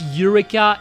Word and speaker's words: Eureka: I guess Ureka is kind of the same because my my my name is written is written ea.